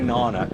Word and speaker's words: Nana: guys we're now at Nana and just in case you're wondering about the pronunciation don't say nana it's not Nana it's Nana and that's where we're at